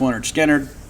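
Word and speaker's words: Lynyrd Skynyrd: Of course, that's from pronounced Leonard Skinner, because we're Mississippi kids, right?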